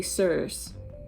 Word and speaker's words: serious: of sirius in bermuda we don't say are you serious man are you serious like that that's how an american would say it in bermuda we would say sirs yes sirs like you're